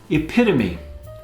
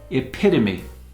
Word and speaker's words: epitome: Epitome, a person or thing that is a perfect example of a particular quality or type, epitome, not epitome.